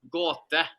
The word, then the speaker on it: Gåte: How do you pronounce this? Gåte, am I right? Gåte.